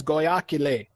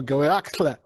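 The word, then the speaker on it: Goyahkla: Geronimo's real name is Goyakile, or Goyakle in Apache. But I say Goyakile because it's easier to pronounce.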